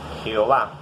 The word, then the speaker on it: Jehová: Y es cuando los hombres empiezan a invocar el nombre de Jehová, que es el nombre en hebreo Yahvé, y después le colocan pues las vocales ahí para que se pronuncie Jehová.